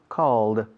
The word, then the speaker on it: called: Call, called, una sola sílaba.